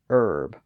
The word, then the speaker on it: herb: Merchant nerve verb and Herb or herb depending on whether you pronounce the h again those words are